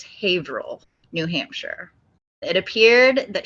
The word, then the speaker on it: Haverhill: to say it wrong, but I think it's Haverhill, New Hampshire.